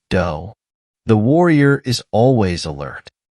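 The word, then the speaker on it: 道: The characteristics of the warrior in his fullness amount to a total way of life, what the samurai called a do, pronounced do.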